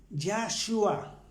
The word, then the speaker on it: Yahshua: Entonces, en hebreo se escribe y se pronuncia Yahshua, Yahshua con doble H, sin Y.